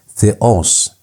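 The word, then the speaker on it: θεός: And the second one is theos. Theos you emphasize omicron.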